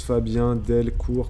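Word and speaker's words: Delcourt: Fabien Delcour Fabien Delcour ça s'écrit comme ça se prononce Fabien Delcour comme ça voilà avec un T à la fin et du coup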